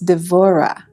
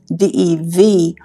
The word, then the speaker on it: Devorah: And then in Hebrew, it's Devorah, D-E-V-O-R-A-H, Devorah.